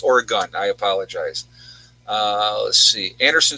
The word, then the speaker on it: Oregon: it that way because i always say it wrong oregon but it's oregon i apologize let's see